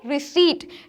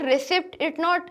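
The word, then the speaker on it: receipt: तो जैसे कि हमारा पहला वर्ड क्या है, रिसीट, इट्स नॉट रिसिप्ट, इट्स नॉट रिसीप्ट, इट्स रिसीट, तो यहाँ जो पी है वो हमारा एक साइलेंट लेटर है, तो सही प्रोनाउंसिएशन क्या है, रिसीट।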